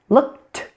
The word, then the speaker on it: looked: looked. Looked. Did you hear it again? It's a T.